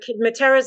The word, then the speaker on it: Matera: The Matera side of my family, so Materas and Iaconos, and actually in Italy they pronounce it Matera and Iacono.